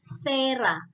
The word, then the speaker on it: cera: Contoh, kalian bisa lihat di layar cera, cera. C diikuti dengan huruf E di belakangnya. Ketika dia diikuti huruf E di depannya, maka dia dibacanya sebagai sera. Ya, cera jadi sera.